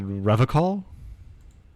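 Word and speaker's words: Revachol: A hard ch, my man. He nods gravely. His gaze shifts to the pile of soggy logs at his feet. He pronounces Rivercon with a hard K, unlike other people. Okay, let's unspool this slowly. First, our our rhetoric revealed uh answer here. Here, uh you said Revol. I like to pronounce it the hard way, the old way, the vesperine way.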